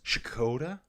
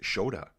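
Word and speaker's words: Škoda: So Skoda is not Skoda, it's Shoda? Changes the sound to sh. Why? So, yeah, that's weird to me. So why have a K there then? How do you say the K in Skoda? So it's Shkoda? Shkoda? Or just Shoda.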